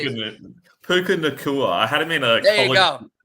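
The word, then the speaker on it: Puka Nacua: player they picked up was, I think it's Nuka Puka. I don't know. I couldn't even tell you how to say it. Puka Nakua.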